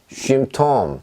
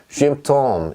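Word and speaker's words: Symptom: 자, 얘는 쉼톰, 쉼톰 이렇게 읽습니다. 무슨 얘기냐면 그냥 유의 발음입니다. 유의. 쉼, 쉬, 했을 때 그 발음입니다.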